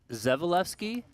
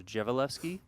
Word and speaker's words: Dzivielevski: Yeah, I I was saying Zeali and then earlier today, just luck, I was out there on the floor. He was telling Sternheimer to say his name. Basically said, "You kind of say it like it's a G." So, Jevelki.